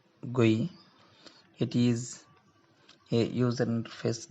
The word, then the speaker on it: GUI: browser interfaces graphical user interfaces interface and is pronounced gui it is a user interface that includes graphical